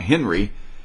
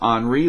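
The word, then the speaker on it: Henri: is pronounced it's not henry i think it's the french version so it's henry the h is silent and you need to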